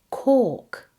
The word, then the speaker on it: cork: In the word cork, the OR makes OR.